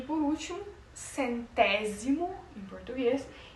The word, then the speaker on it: centésimo: O S no português ele vai ter o som da letra Z, mas como eu já disse no espanhol eles não fazem esse vocábulo da letra Z. A maioria das pronúncias pronunciam a letra a o a o fonema Z como o mesmo fonema do S, do C.